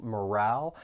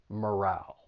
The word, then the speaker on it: morale: trying to raise morale the pronunciation can be a little tricky just know that the stress is on that second syllable morale and don't be fooled by that e at the end it's not a long vowel sound but a short vowel sound morale then there's withdrawal